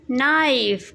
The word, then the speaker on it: knife: K is for knife. K is silent.